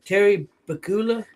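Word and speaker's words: Terry Pegula: Terry Bakula, I think is how you pronounce his name, did a press conference and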